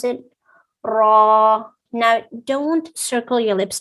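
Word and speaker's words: راء: raw you pronounce it raw now don't circle your lips again the way i said heaviness comes from the tongue raw not okay next we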